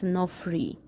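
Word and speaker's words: ⲛⲟϥⲣⲓ: So as you see, first letter is Ni, O, that's no, and then Phi, so that's Nof, and then Ro, Nofr, and then the Yuta, so that's Nofri.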